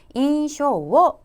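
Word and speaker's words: 印象: 번에 있습니까 4번에 있고 자 발음은 어떻게 하십니까 쇼라고 발음 하셨습니다 그래서 인쇼 게르가 되면 우리 말에 인상을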